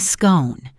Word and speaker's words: scone: "Oh, you mean a scone," she exclaimed, her voice lilting as she pronounced it with a long, elegant O sound, the same sound as in the words cone or phone.